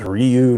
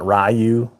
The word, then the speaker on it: Ryu: Fighter the video game it was always Ryu not rayu was Ryu well it's riob they